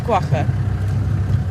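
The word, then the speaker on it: quagga: It is guaca. It's an Afrikaans word, so it's one of those you have to get the pronunciation right.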